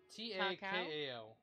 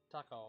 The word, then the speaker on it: Takao: I believe that's pronounced like cow. Takao, because we have a restaurant here called Kao's. It's Chinese, but... Okay. Yeah, it's Kao's, but a lot of people still call it cow.